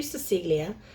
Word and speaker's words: Cecelia: inside it says to Cecelia which rhymes with Emilia all of my love